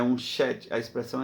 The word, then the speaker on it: Sete: O outro foi concedido por Deus, no caso aqui, Sete, que se pronuncia Shet.